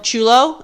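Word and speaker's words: chullo: said chulo i was like it is it's chulo it's spelled differently that was c-h-u-l-l-o oh my god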